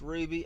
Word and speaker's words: RWBY: of my mouth properly i know it's pronounced ruby i don't know why i'm saying rwby but you'll know the